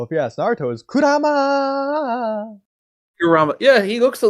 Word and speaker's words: Kurama: like Kurama or Kuruma, however you pronounce his name. Well, if you ask Naruto, is Kurama.